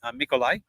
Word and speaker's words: Mikolai: Emmy's a little bit furthest away from it, but your brand new keeper coming in, the way you say his name, by the way, is Mikolai.